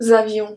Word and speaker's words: avions: Then we have nous avions, vous aviez. The S at avion isn't pronounced.